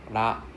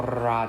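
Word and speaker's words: ら: So this is pronounced as la, la, Okay, not ra. There's no ra sound. It's la. Okay, ramen. Okay, not ramen. It's ramen. Okay, it's more of an L sound.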